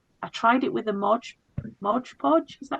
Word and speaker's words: Mod Podge: I tried it with a Mod Podge, is that how you pronounce it?